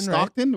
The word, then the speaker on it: Stockton: Stockton. Stockton, right?